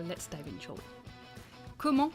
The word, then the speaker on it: comment: Comment Remember the T at the end of comment is silent.